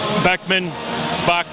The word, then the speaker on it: Bachman: Bachman.